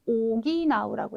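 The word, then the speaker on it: 補う: 네, 오기나우라고 읽어주셔야 되죠.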